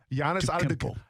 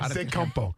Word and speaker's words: Antetokounmpo: You can say it with the T or the D. You say it with the D, and it's more from his homeland. That's why I say it like that.